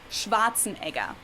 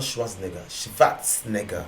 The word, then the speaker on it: Schwarzenegger: yeah arnold schwarzenegger the z in german is pronounced like a ts so it's so it's schwarzenegger not schwarzenegger